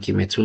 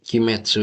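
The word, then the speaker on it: 鬼滅: Nah, sedikit tambahan lagi, Kimetsu itu ini kalau berdiri sendiri kan bacanya gini ya. Tapi kalau berdiri sama kanji lain, itu onyominya itu bacanya metsu. Nah, jadi Kimetsu itu ki-nya itu dari kanji oni.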